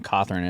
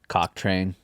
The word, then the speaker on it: Cawthorn: My last name being Cawthorn, it always got mispronounced. Cocktrain.